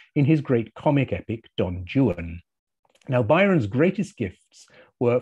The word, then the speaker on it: Don Juan: chose the figure of don juan or don juan as byron pronounces it which allowed him to